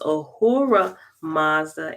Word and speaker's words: Ahura Mazda: all-sufficient high god and this is spelled a-h-u-r-a apostrophe m-a-z-d-a so it's ahura mazda and e-hua mazda ee